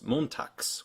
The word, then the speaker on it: montags: So it's montags with a x at the end, a ks.